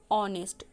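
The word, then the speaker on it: honest: मतलब जैसे अगर हम बोलेंगे ऑनेस्ट, ऑनेस्ट का स्पेलिंग एच से शुरू होता है। एच इज़ a consonant, but इसका प्रोनाउंसिएशन या उच्चारण बोलो, साउंड बोलो, वो क्या हो जाता है, ऑनेस्ट।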